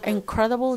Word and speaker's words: incredible: let me select it incredible this is an adjective as you see it's made up of three syllables and also the program between lena in the second syllable is the stress one as you see let